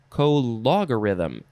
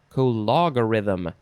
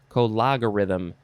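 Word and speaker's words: cologarithm: it is abbreviation for co logarithm how do you say that word i don't know let's read it because it's our next word co logarithm you got to emphasize the law co logarithm noun from 1881 the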